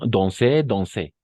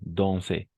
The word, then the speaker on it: danser: Danser. Très bien. Danser. Exact. Siempre. Va a funcionar en un 100%. Danser. D'accord? Pas danser, danser. N'oublie pas A-N, on. Igual, A-N. Lo vamos a pronunciar como on.